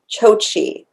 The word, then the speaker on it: Chokshi: upon a time and i always say the author's name wrong even though i love her books roshani chochi i think is how they sit on the audiobook um and i got